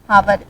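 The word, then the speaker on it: hour: और एन आवर। यहाँ पर जो इसका प्रोनाउंसिएशन वो होता है वो क्या होता है? आवर। और आवर से पहले यहाँ पर साउंड कैसी आ रही है?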